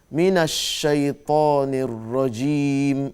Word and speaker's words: من الشيطان الرجيم: So that between that mina and shaitan, there's a way of reciting it. Minash. أعوذ بالله من الشيطان الرجيم. There's shadda on the shin. Minash shaitanir rajim.